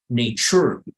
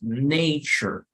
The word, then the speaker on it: nature: You're never going to say nature, nunca, sino que es la más débil. Entonces, nature, nature. All right.